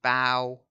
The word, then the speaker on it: bow: other a bow but the verb is to bow okay so bow and arrow I'm with arrow and bow rhymes with now bow now how now brown cow okay so shiny bow